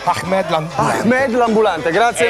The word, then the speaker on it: Ahmed: Ahmed, come pronuncialo? Ahmed l'ambulante.